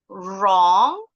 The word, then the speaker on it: wrong: Wrong. The W is silent.